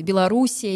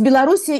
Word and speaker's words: Беларусь: ему да то есть Белоруссия или Беларусь Это разница между русским и Белорус белорусским произношением Но сегодня и конечно по-русски